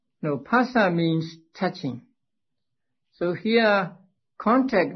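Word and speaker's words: phassa: it is pasta now ph in ali should be pronounced pa and not not as f in english now pasa means touching so here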